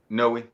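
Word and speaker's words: Noé: So it's like it's spelled, but just like trying not to be fancy by taking the E silent. Yeah, it's supposed to be accented, in Spanish.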